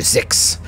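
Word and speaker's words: Xix: whale thing later her she is spelled x-i-x and so i called her six other game masters might have said something else but i like six you're searching this dude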